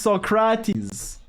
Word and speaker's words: Socrate: How do you say Socrates? In French, it's Socrate. So if you make fun of me, you're being, well, languageist, I guess.